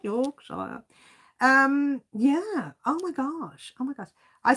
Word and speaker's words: Yorkshire: Yorkshire.